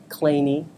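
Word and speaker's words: Kleene: 1956 uh Stephen uh clany that's how he likes to pronounce his name uh came up with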